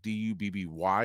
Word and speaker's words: Dubby: Dubb Y is how you spell it. I don't know why they spell it that way. You would think it's IE, but it's not. It's Dubby.